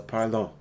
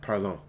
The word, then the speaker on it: parlons: So parlons. Can you say that? Parlons. Parlons. Yeah, there's no T added onto the end of that.